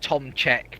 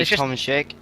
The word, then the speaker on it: Tomczyk: I think most people pronounce it Tomczek because it's easier. The CZY, I usually pronounce it as G. I say Tomczyk. Yeah, Tomczyk, almost.